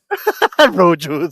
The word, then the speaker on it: Rojos: Rojos. The backstairs and the Rojos. Rojos. Rojos. And you have to roll the R's.